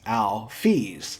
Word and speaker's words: Alphys: Next is a rather minor bit of lore, but Toby actually gives a pronunciation guide for Alphys' name. He says it should be pronounced Alphys.